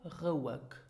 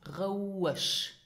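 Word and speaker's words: roueg: Now, is this pronounced Rouisch or Rouig? Well, it is pronounced Rouisch. Rouisch. So here you have the sh sound. Sh sound. In all the words ending with sh and ending with zsch.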